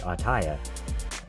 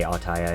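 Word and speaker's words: Auttaja: from a Discord bot named ataya I say attire it might be called something else similar but it's spelled a-u-t-t-a-j-a um basically it takes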